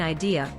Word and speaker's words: idea: vowel sound is different idea the letter i is pronounced differently music the vowel U